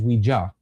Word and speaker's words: Ouija: I'm sorry, the proper way to say it is Ouija. Ouija.